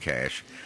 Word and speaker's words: cache: weapons are found in a cache cash from French Hiding Place pronounced cash provoking further Giggles from